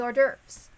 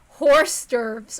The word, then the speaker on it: hors d'oeuvres: or something or 12 I used to pronounce hors d'oeuvres I hors d'oeuvres like from Harvest Moon A Wonderful Life is Like horse stirves or something then what about Shannon